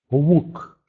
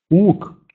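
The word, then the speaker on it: łuk: Он произносится путем округления губ. Но, в отличие от английского «в», губы полностью не сходятся. Остается достаточно большой промежуток. «У», «ук», «уаска», «гелда», «шеду», «несва».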